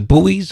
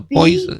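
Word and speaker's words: Buoys: It's spelled B-U-O-Y, right? The Bowies or Boys. Yeah. B-U-O-Y. The Boys.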